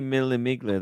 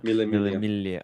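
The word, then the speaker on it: Mille Miglia: Could be Millimiglia. That's a great Milia. great guess. You don't pronounce the G on it. G. Yeah. Millemilia.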